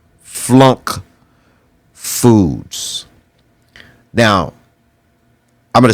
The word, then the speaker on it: FLUNC: and it's when you understand what is called flunk Foods now I'm going to spell that for you f l u n c